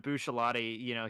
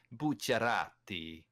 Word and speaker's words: Bucciarati: I think if we're gonna be talking about Full Metal Alchemist being pronounced properly, then we also have to say Bucciarati.